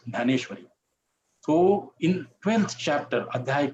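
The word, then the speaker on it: ज्ञानेश्वर: Gita and it is known as ganeshwar in marati we pronounce ganeshwar so in 12th chapter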